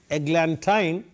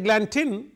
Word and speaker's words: eglantine: now I tell you I said eglantine because it rhymes with wine eglantine wine I'm in the rhyme scheme when I read that Glanton for example e AG